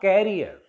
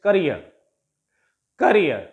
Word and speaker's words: career: This is a disyllabic word, career, and it ends in ear, E-E-R. It ends in ear, so the stress will take place on the last syllable, and it is not carrier, it's career.